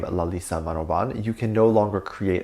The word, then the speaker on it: Manobal: is Lalisa Manoban, and Manoban is spelled with an L at the end instead of N, but it's pronounced with an N, which is very interesting. So it's Manobal.